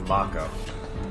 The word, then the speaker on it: Mako: Nice to know it is pronounced Mako. That's something they never gave you in the original. I always thought it was Mako.